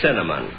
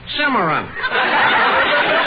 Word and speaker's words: cinnamon: let's hear you say cinnamon cimmeron you see Mary look Mister it's such a simple word you just pronounce it like it's spelled c i n n a m o n c i NN a